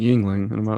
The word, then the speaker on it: Yuengling: Speaking of Hershey's, Keith, did you hear that Yuengling is coming to Texas? This is a big thing. Who? Yuengling. I thought it was Yuengling. Beer. Really? I pronounce it Yuengling.